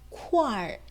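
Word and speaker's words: 块儿: 여기에 R을 붙여서 표기를 하는데 발음할 때는 어떻게 I를 생략해요. 그러면 쿠아만 남죠. 그 쿠아에 어를 붙여서 쿠알 이렇게 발음한다는 거죠.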